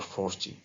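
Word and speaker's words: forty: is that 14 or 40. So we notice that the stress is on the last part when it is 17, 14, 13 and so on.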